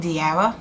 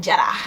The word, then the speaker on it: Diarra: So, my African name is Diarra. Well, in Bambara is Jara. Right there. That's the real one. That's how you say it.